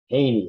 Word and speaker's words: Jehne: That's spelled, I don't know if it's Australian, but Jehne. Haney, it's pronounced apparently.